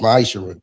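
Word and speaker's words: מעשר: You'll find this in the book of numbers 18:21 in the book of Malachi 3:8-10 means 10th in Hebrew and is pronounced maisher 10% of every penny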